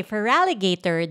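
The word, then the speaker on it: Feraligatr: wait okay I also like how do you pronounce that feraligator yes oh okay feraligator Del Fox and I think that's how you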